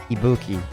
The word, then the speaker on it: Ibuki: was I think I was saying that wrong Ibuki yeah they would have definitely enjoyed this